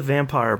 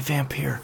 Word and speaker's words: Vampyr: vampyre yeah unfortunately they unfortunately they pronounced a vampire but it's it's totally vampyre but yeah that's totally